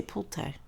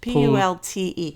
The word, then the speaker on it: Pulte: How do you say it? Pulte. You say Pulte. Pult. P-U-L-T-E. Pulte.